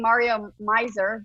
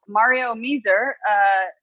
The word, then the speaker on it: Meeser: I keep saying Mario Miser, but it's apparently Meeser. So Mario Meeser, Dead Robin.